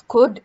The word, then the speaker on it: could: Similarly, it's could and would. Again, L is silent in both of these words.